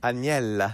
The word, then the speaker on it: Aniela: Do you think you're I've never heard of I've never heard my name pronounced so correctly so many times. I like saying it. Anella.